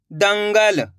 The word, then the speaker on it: दंगल: देखिए किस तरीके से, दाम अनुस्वार की मात्रा दंग ग ल, तो बताइए मिलके क्या बनेगा, दंगल।